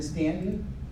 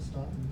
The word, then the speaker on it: Staunton: Stanton is amazing. Except when you pronounce it Staunton. Then When you pronounce it Staunton to the locals, they get a little mad at you.